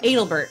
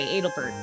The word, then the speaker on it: Adelbert: I am Albert, captain of the Knights of Pluto at Adalbert. Sorry, Adelbert. I always pronounced it wrong when I was younger, too.